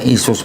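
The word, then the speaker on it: Iesus: Ya ya, ini bacanya Isus Pak nih. Karena apa? Karena ini bahasa Yunani. Kalau bahasa Aramaiknya Iso. Bahasa Arabnya Isa. Bahasa Yunaninya atau Romawinya Isus.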